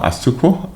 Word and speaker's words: Asuquo: week is in the person of Mr Emmanuel asuku I pronounce that right perfect perfect perfect yeah Emmanuel